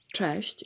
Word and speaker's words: Cześć: As you know the sounds like ch and we can divide the word cześć into two parts. Cześć. Cze is easy and you can say it with me. Cze, cze.